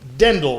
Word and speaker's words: Ddendyl: I am pronouncing that right. Thanks for having me. Ddendyl, right?